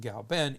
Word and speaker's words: Gaoben: Now everyone's settled on pinyin, but in Wade Giles, K is pronounced with a G. So Gaoben, even though it's spelled Kao, it's still pronounced Gao Ben.